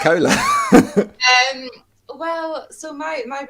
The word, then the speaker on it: KOHLA: are you pronouncing that are you pronouncing that like Cola Cola yeah yeah fizzy